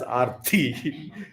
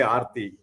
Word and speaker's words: Arthi: So that is why when somebody has name, I will correctly pronounce as Arthi. Because many don't know Sanskrit, so they will just say Arthi, right? We have to Those who know Sanskrit will never say, they will not call somebody, they will not call somebody Arti.